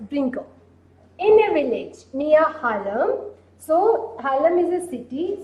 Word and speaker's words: Haarlem: In a village near Haarlem, this pronunciation is H-A-A-R-L-E-M.